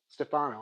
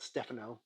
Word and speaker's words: Stefano: Okay, so anyway, here's a Stefano. I'm sure that's pronounced. Not Stephano.